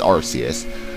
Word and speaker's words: Arceus: And also, the reason why I know it's Arceus is because its Japanese name is Arceus, and it's spelled R-U-S-E-U-S, so... yeah, it's Arceus.